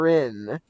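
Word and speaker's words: Wrynn: How do I pronounce that? Rin, yeah, you're good.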